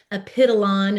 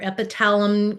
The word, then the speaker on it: Epitalon: So epithalamin is the natural form, and then epitalon is, or epitalum, multiple different pronunciations, but that would be the synthetic version that is injected.